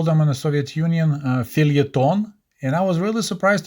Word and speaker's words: feuilleton: word in English, although it looks like it was borrowed from French. And I'll let Google to pronounce that word because I can't. Here we go. Feuilleton.